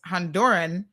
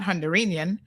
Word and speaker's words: Honduran: to guard mainlands um Alejandro says it's Honduran not hondurenian but caymanian's always a